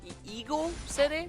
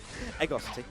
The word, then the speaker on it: Ego City: I'm not sure the pronunciation of that one of those stages. Eagle City? Is that, did we get it right? Yep. Egosity.